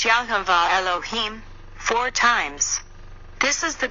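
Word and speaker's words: יהוה אלהים: there of white light vibrate and halo him pronounced yahuveh elohim four times this is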